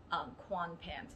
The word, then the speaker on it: Kwanpen: So Kwanpen. So this is how it's going to be pronounced.